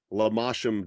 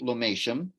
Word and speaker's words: Lomatium: Most people pronounce it Lomatium. Oh, okay. Um, and and the I could say a lot about it. And I could call myself a world expert on Lomatium because there's hardly anybody that tries.